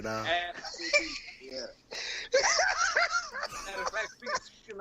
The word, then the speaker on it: ABCDE: Her name is ABCDE. like Aspen? ESPN, Aspen? ABCDE. And she pronounced it ABCDE. Oh, my God. Kind of like Rack City. Rack City, Rack. Ab City right there, now.